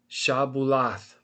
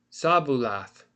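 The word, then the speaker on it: שבלת: So right here they said to him say shabulath and he said sabulath because he couldn't say the shin. He said the samak instead and they said he could not pronounce it.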